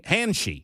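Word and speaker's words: Handschy: I don't know how to pronounce Hansi. Henshi. There you go. Uh, h a n ds c h y henshi.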